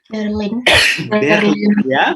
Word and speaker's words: Berlin: Berlin. Berlin ya, karena kita sudah sepakat kemarin Monsieur, karena I dan N diucapkan bagaimana? Berlin.